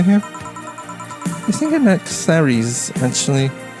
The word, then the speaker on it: Clary: I think I'm at Clary's, actually. Is that how you pronounce it? It's like Mary, so it's Clary's.